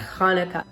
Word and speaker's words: Hanukkah: you'll see it with the ch which denotes more of that guttural huh it's the proper pronunciation more of that hanukkah so that's why you